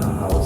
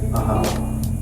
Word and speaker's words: Ajaw: cycle known as an Ahau cycle. Right across from where you're staying, they have the chocolate factory, Ahau. It says AJAW, but it's pronounced Ahau, a 20-year cycle.